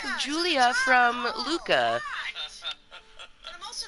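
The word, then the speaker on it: Giulia: where there is girl Julia and her name is spelled with a G it's guu i l a Julia I think that the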